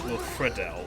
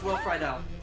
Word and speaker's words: Friedle: for the longest time I always hear people pronounce it as Wilfredo. No, it's Will Friedle. Well, Disney needs to know. Well, Disney needs to get a memo on that because every time they say his name, they always pronounce it as Fredel.